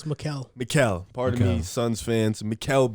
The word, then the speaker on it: Mikal: In the comments, they said I said his name wrong, his first name wrong. Well, It's Mikal.